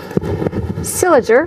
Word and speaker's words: St. Leger: Leger or cylinder cylinder is the we never knew that pronunciation until today and then in general